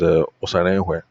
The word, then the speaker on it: Osarenhwe: He said, "Yes, it is not Koe, it is Hwe." So I now call Uncle Sam. I said, "Uncle Sam, now my father-in-law said your name is Osarenhwe." Uncle Sam laughed. He said, "Yes, you've been pronouncing it wrong all along."